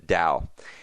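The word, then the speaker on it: TAO: a version of Corbett which we call the ACE orb pronounced Dow and this took a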